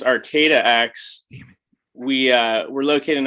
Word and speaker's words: ArcataX: me um just to let you know it's pronounced arcata x we uh we're located in arcata which is